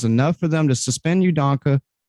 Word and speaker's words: Udoka: All the speculation and news, was enough for them to suspend Udoka's.